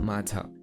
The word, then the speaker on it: माझी: You think that this would be माझी following the same pattern. But, ऐसा अगर हुआ तो मराठी इतना सिंपल नहीं हो जाता। There for this word is नॉट माझी, इट इज़ मांझी। So, Marathi switches from the अल्वुलर form here to द प्यालेटल form.